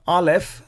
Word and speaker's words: alef: the sound next is the letter alef the first letter of the hebrew alphabet and it is silent as we have observed